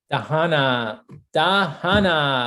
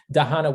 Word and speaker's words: Dahana: Dahana, we are so proud of you. I think that when I was saying your name and I was swallowing, I didn't even finish the last syllable. Dahana, we are so proud of you.